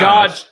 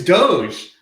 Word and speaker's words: doge: as well okay it's it's not dog coin i'll tell you that dodge dodge dodge coin no you have to at least know how to pronounce it it's doge oh my god i